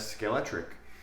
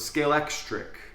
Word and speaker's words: Scalextric: just read it as skelet tric on this side of the world at least but someone told me you have to pronounce the X so it's scale xri scale xri correct me